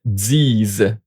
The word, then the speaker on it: disent: And ils, elles disent. And you see here, no pronouns. Don't pronounce the NT. This is also a problem, so get used to not pronouncing the NT.